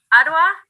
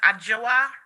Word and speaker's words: Adjoa: You have a right to an attorney, and your attorney, is it Miss Adwa? Yes, Your Honor. Is that how it's pronounced? It's pronounced Adjoa.